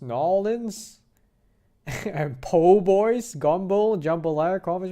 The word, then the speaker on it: New Orleans: tried authentic Cajun food grew up in New Orleans pronounced nollans and po-boys gumbo jambalaya